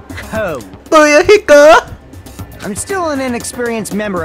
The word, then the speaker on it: Fuyuhiko: My first name is pronounced Booyuhiko. Booyuhiko!